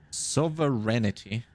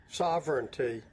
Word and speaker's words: sovereignty: uh efficiency from serenity sovereignity sovereignity sovereignity how do you pronounce this so there you go sovereignty sovereignty okay sovereignty yeah obviously how how could I not know this sovereignty I mean it's literally written right there who who who who doesn't know this right sovereignty instantly visible that it's pronounced like that okay um what's this